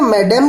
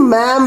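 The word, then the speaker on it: ma'am: तो हम क्या बोल सकते हैं? मैडम भी बोल सकते हैं और मैम भी बोल सकते हैं।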